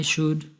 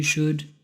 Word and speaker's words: should: I should, you should, he should, she should, it should, we should, they should. They all use should. We do not pronounce the L in the word should.